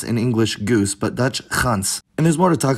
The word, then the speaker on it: gans: Ya, unlike what happened with the other plosives, Dutch went full out on the fricative form of /g/, which is now pronounced [χ]. So we had Proto-Germanic *gans, which became Swedish gås and English goose, but Dutch gans.